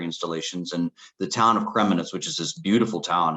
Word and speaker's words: Kremenets: And you relocated to Kremenets. Am I pronouncing that right?